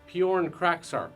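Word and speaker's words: Pyornkrachzark: It's actually pronounced Bjorn Kraksark.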